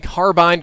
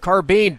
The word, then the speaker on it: carbine: I was ashamed that all my life I've been saying carbine, carbine, carbine instead of carbine. Damn it, it's carbine, and I was wrong forever.